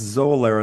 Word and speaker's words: Xolair: And that's Zolair. And let me spell that for people because it's a little complicated.